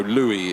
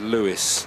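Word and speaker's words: Louis: Costa uh no no Louie it's uh I I think okay I think I said Lewis uh yes for the proam racing the number 12 I said Lewis and it's Louie uh French pronunciation so thank you uh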